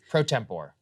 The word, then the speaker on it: pro tempore: Is that how you say it? Pro tempore? Pro tempore. Pro tempore. There we go.